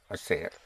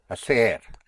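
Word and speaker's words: hacer: Again, the H is not pronounced. So you have assayer to do. How would you say to do like that? Aseri. Yes. To do like that. Asser to do like that.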